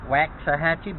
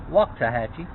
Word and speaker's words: Waxahachie: interesting thing about waxahachie it's spelled w-a-x so it looks like wax a hatchet but it's pronounced walk tahachi i spent a lot